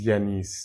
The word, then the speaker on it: Yannis: So Janice, before I even start, is it just Yianis? Is it Yianice? Jiannis, like how do you pronounce it? So my name is Janice, born, which is very French.